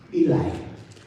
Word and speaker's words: Eli: And I chose, it's called Eli, it's pronounced Eli, but in the US we pronounce it as Eli, Samuel, and Saul.